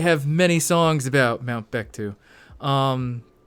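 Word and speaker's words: Paektu: the tiger of Mount bittu which by the way the dprk have many songs about Mount bechtu um although I think it's pronounced like pictu um whatever I'll I'll get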